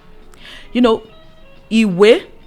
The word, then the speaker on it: Ìwé: Ìwé, we have 2 syllables. So that is why we have 2 tone marks.